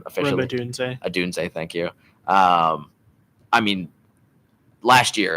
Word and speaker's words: Odunze: Adunze, thank you.